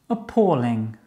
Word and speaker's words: appalling: Appalling. Appalling. Actually, Isabel, it's appalling. Appalling. Ah, yeah, es que siempre me cuesta mucho ing.